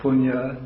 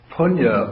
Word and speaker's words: punya: that they so appalling it's Punia in sanskrit pronounced the same way with spelling a little bit different and so punya or merit we can